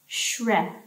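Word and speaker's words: 雪: It means snow, and then it's pronounced shre, as in shred.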